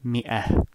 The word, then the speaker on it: مئة: Though some people pronounce it مئة to match the spelling. However, it is normally pronounced مئة.